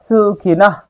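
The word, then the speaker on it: সুখিনঃ: এখানে দন্তস জন্য স হয়েছে এবং শব্দের শেষে যদি কোন বিসর্গ থাকে তার সঠিক শুদ্ধ উচ্চারণ হয় অর্ধেক হ এর মত। সুখিনা। শুধু মুখ দিয়ে একটু হাওয়ার মত বের হবে। সুখিনাহ।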